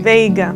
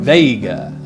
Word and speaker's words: Veiga: I want to welcome to the couch here at Airborne, let me see if I pronounce correctly now, Veiga. Did I pronounce that correctly? Veiga. Veiga.